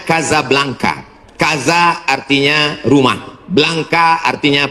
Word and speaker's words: Casablanca: Ibu kotanya tulisannya Casablanca. Cara bacanya Kazablanka.